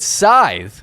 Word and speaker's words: Scythe: I'm very excited to get into this and prove beyond a shadow of a doubt that Scythe, which is in fact the correct pronunciation of the game.